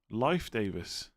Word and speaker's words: Leif Davis: Leaf is pronounced like the word life. Life Davis.